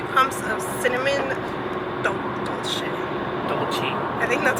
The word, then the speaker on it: dolce: Chavo_134, aka Joel's brother, recommended a vanilla bean frap with 3 pumps of cinnamon dolce.